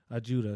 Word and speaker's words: Ajuda: Ajuda, excuse me. How you spell that?